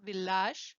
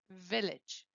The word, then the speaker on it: village: Sometimes the letter A is pronounced like an A, but this is an exceptional case. This is not normal at all, okay? But you have here the case, village. Yes, it's not village, it's village.